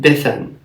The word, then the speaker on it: Bithen: If you were to see his name, you would pronounce it Bithen.